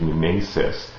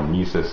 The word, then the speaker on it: mimesis: as a whole and the word that he uses in Greek is mimesis which is sometimes pronounced mesis in English or sometimes even pronounced mimesis and after Plato has